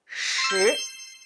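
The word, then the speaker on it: 十: 10. It sounds like English words shirt.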